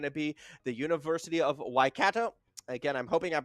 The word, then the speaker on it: Waikato: Waikato, I think it's Waikato. No. Waikato. Waikato. Yeah, because I was calling it Kato at the start.